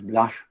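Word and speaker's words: Blache: was a follower of vidal di labla or you can pronounce it as blush who advocated the principle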